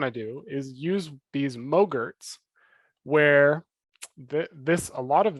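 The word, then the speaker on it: mogrt: what is called a mogurt it's spelled m-o-g-r-t it rhymes with yogurt and it stands for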